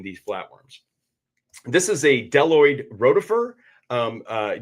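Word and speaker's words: bdelloid: This is a deloid rotifer. Um, uh, deloid actually begins with the letter B, but the B is silent.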